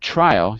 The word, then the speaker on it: trial: So in the word trial, you'll see it's on the first syllable. Trial. Trial. trial. Right. Because I heard trio the first time.